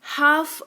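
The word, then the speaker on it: half: जैसे कि पाम इसको पालम नहीं पाम पढ़ते हैं यानी कि हथेली। इसको कालम नहीं काम पढ़ते हैं यानी कि शांति। इसको हलफ नहीं हाफ पढ़ते हैं।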